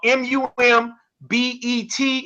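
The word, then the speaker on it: Mum Bett: Elizabeth Freeman also known as mumet that's uh mum bet and some people spell it bet and um with that being said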